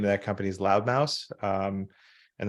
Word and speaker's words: Loud Mouse: loud Mouse um and that's Mouse with a not a mouth like MSE like I gotta spell it because everybody thinks I say loud mouth but it's uh it's loud Mouse and uh the the